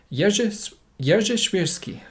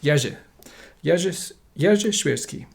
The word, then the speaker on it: Jerzy Świrski: This is vice-admiral I'm going to have to try and pronounce this correctly. Jerzy Świrski. There we go. I done it. Jerzy Świrski.